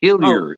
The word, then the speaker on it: Hillier: the pronunciation though is hiler even though I'm from Eastern and central Canada there is no um there is no French pronunciation uh well thank you